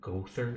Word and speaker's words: Gowther: The name Gowther, ironically pronounced Gother, is a character in the Seven Deadly Sins, an aloof pretty boy known as the Goat Sin of Lust.